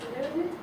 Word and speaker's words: learned: lessons learned.